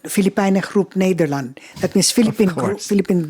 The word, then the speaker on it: Filipijnen: And after that, they decided to form a group, and it was called Filipijnen Groep Nederland. That means Philippine Group Netherlands. Filipina is how they say it? Yeah, Filipijner. Filipiner? Filipijnen.